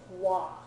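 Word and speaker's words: は: word, and by the way, it gets pronounced differently. So, ha, when it's being used as a particle, gets pronounced like wa, okay?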